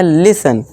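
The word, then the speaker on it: listen: फिर है दोस्तों लिसन यहां देखिए न है टी के बाद क्या है न है तो यहां टी साइलेंट होगा और इसे हम पढ़ेंगे लिसन फिर है दोस्तों हमारा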